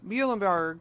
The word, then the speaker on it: Muhlenberg: Mr Barton out of Muhlenberg Parks and Rec Muhlenberg County that's how you say it right yes